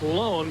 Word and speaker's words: Lon: And now, ladies and gentlemen, an extra added attraction, the Lone Ranger. Now, that is pronounced Lone, but it is spelled L-O-N.